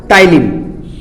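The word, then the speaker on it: ptyalin: पी यहां पे silent है, क्या है यहां पे बेटा, टाइलिन।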